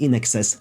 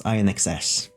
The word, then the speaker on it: INXS: For the longest time I just pronounced it as INXS. Until I heard someone on some podcast like pronounce them like in excess as a single word, like in an excess amount of something like that. And like, it hit me like, oh, it's supposed to be one of those.